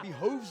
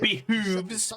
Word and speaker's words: behooves: And in so much as it behoves my office as bailiff... Behooves, please say it correctly.